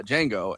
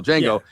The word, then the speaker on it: Django: N G O the the D is silent.